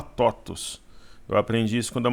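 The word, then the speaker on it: TOTVS: Se lê TOTUS, né? Se escreve... É TOTUS 3, né? Mas a empresa se fala TOTUS.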